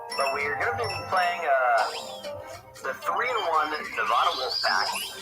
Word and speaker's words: Nevada: on board for saying Nevada. But I will not be saying Nevada. I believe that based on the fundamentals of the language, it's pronounced Nevada.